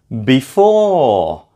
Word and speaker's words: before: Before is the second syllable.